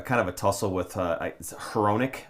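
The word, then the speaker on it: Hronek: of a tussle with Heronic, I think is how you say the name and HR sound like Ronic, right?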